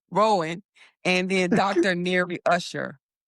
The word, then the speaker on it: Rowan: So Flare was co-founded by Hugo Filion and Sean, one way you pronounce it, Sean Asim Rowan. I'm not saying Rohan. Rowan, and then Dr.